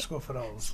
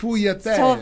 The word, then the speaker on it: sfogliatelle: I can't pronounce them right. Scofidel's. Cofidels. Okay. But he pronounces them different. Sfogliatelle. So there you go. That's the way.